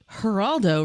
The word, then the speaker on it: Geraldo: dreamer medication information says geraldo is sicilian in origin as in neil soft g geraldo rivera is hispanic in origin silent g but not science there